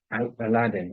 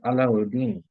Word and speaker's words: Alauddin: So there's it's known as a play now in the West, the Disney play called Aladdin and his magic lamp. But the correct pronunciation is Alauddin.